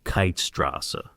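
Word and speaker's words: Keithstraße: S's but rather for Keith Strasa named after the Scotsman James Keith with a ta at the end. But real Berliners only know Kiteasa.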